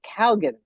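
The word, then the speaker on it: Keoghan: Uh Barry, and I just looked up how you pronounce his last name. Barry Kalan. That's how you say his last name. Barry Calgan from Saltburn.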